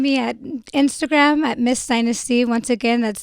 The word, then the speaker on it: Dynysty: All you got to do is type in her name, Dynasty. I'm going to spell it for you again. DYNYSTY.